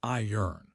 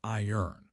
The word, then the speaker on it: iron: It sounds like iron. Like lion but with an R iron.